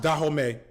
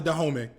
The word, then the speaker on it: Dahomey: I believe that it's pronounced Dahomey. That was in Benin and was a big part of the West African slave trade.